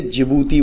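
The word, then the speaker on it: Djibouti: और स्पेलिंग जो है ये डी से स्टार्ट होती है, लेकिन इसे जिबूती बोलते हैं, जिबूती, ठीक है।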